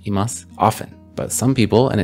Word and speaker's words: います: unvoiced vow so it sounds like more like imas often but some people and it depends on